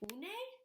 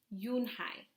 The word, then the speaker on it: Unhei: "Une?" the girl asked, scrunching her face. Oh, One," some kids chanted. No, Yoon-hai corrected. "It's Unhei. It's pronounced Yoon-hai." "Oh, it's you-hey," the boy said.